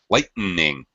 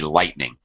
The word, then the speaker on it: lightning: way many times it it should be lightning you don't need that extra vowel sound in between good question though thank